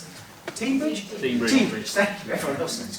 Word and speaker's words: Teignbridge: I've lived here for 4 years, I still don't know how to pronounce them. Teignbridge, thank you, everyone else knows.